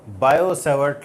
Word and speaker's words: Biot-Savart: तो बायो-सैवर्ट law, Biot लिखा है BIOT, बट टी इसमें नहीं पढ़ा जाएगा, साइलेंट है।